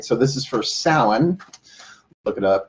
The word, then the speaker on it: Samhain: the on Halloween right so this is for salen look it up s o w e and s o s o w en is how it sounds sound but it's pronounced sa mhan as you can see in the title welcome